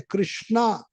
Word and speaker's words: कृष्ण: इसलिए हरे कृष्ण महामंत्र क्या है? वैदिक नहीं है, फिर भी उसमें हमें फायदा नहीं उठाना चाहिए। उच्चारण स्पष्ट करना चाहिए, कृष्णा नहीं कृष्ण। कृष्णा नाम किसका है? द्रौपदी का है।